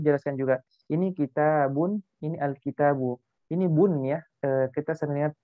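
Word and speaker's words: الْكِتَابُ: Al-kitabu itu enggak bisa kita bilang al-kitabun, enggak boleh. Itu salah dalam pengucapan. Karena di sini ada alif lam. Jadi alif lam di sini menyebabkan cuma dia hanya bisa al-kitabu. Kalau bilang al-kitabun salah. Jadi yang benar al-kitabu.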